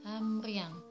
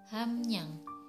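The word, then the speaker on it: 함량: Untuk contoh yang kedua adalah hamriang, harusnya dibaca hamriang, tapi yang benar pengucapannya adalah hamnyang.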